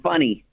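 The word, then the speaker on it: Fany: It's spelled f a n y. But in Europe uh f a is is like you.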